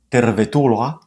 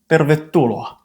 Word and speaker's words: tervetuloa: This happens in many compounds where the first part ends in e. Let's see a few more examples. Not huonekalu, but huonekalu. Not tervetuloa, but tervetuloa.